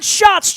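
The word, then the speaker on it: Schatz: A TZ uh but pronounced like the famous Brewery in Milwaukee that was uh fake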